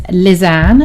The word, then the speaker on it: Lysanne: So my name is Lizanne, as I said before. It's spelt Lysane, and it's pronounced Liz-Anne.